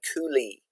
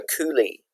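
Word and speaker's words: coulis: popular type of fruit sauce is called a coulee c-o-u-l-i-s we don't pronounce the yes a coulee so this is where you make a fruit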